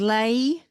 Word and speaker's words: Layyi: That was Lay, and I'm So Tired. That's spelled Layyi.